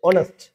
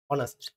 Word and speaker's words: honest: නෙමෙයි පුතේ මේ වචනේ honest honest කියන්නේ අවංකයි කියන එක honest honest ඕ මේ වචනේ අපි දැන් මේකේ h තිබ්බට h silent h කියවෙන්නේ නැහැ මේ වචනේ pronounce කරන්නේ කොහොමද honest honest කියන්නේ මේකද Very good.